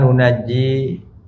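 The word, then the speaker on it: نُنَجِّي: Tsumma nunajji, kemudian kami selamatkan. Musyaddad, nunajji. Ya, bacanya musyaddad, mukhaffaf.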